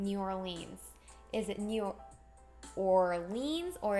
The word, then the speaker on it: New Orleans: We went from New Orleans to Nolans. Oh, it's pronounced Nolans.